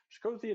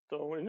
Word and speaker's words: Chthonian: Shkodhian Nightmare. That's not how you spell that. Chthonian. No, it is Chthonian.